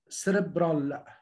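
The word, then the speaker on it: cerebral: مثال سيريبرال، هنا السي جايه في الاول وبعديها اي، انا بقول بفور بس انا ما فيش عندي بفور، بس هي السي هنا اعقابها حرف الاي اتعملت كانه بيجي ايه بفور.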